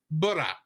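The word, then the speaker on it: ブラ: Because in Japanese, it's pronounced Bura Bula.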